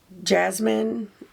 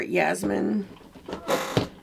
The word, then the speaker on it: Jasmine: So I think the shade I'm going to start with is this shade here, Jasmine or Yasmin. It's pronounced differently sometimes.